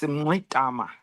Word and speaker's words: Mutama: It's got those clicks which we inherited from the Khoisan. That's the sound. How do you say that sound, Andile? Is there a click to it? Yes, Mutama.